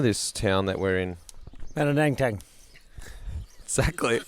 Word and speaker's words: Manangatang: Mananangtang. Exactly. It's a roll off the tongue. Manangatang.